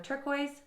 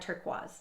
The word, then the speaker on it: turquoise: And the best one, instead of turquoise, we had turquoise.